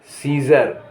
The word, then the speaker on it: Caesar: ए silent है, जैसे कहेंगे CAESAR, तो यहाँ सीजर माने रोमन सम्राट, रोमन सम्राट।